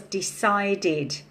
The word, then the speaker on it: decided: So the first one was decided. So the ending sound is id, id, id.